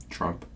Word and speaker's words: Trump: 뭐 그러면서 막 지나가는데 T가 확실하게 발음이 안 나는 경우도 많아요. 앞에 나와도 대단하죠. 여튼간에 T는 조심하셔야 될 것 같아요.